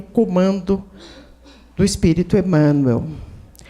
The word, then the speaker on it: Emanuel: que é Emanuel e Emanuel com oxito né a sílaba forte no El é a maneira Portuguesa de dizer Emanuel Emanuel que quer dizer